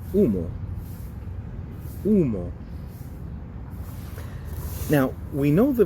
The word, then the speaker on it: humo: Remember the H at the beginning, or anywhere in Spanish without the C, is going to be a silent. So, A, E, I, O, and U. So one silent H word that has the U sound is humo.